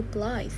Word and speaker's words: blithe: not true please oh it's actually blithe not Bliss blive because um this is